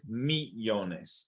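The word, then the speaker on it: millones: not Neil younges okay the Double L sounds like a y okay be honest I'll be honest I see Ico yeah I'm probably doing Italian sorry right me Jonas okay let me honest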